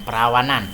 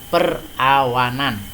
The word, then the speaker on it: perawanan: tekanan udara kelembaban udara perawanan ya Bacanya jangan perlawanan tapi perawanan yaitu tentang awan yang selanjutnya hujan yang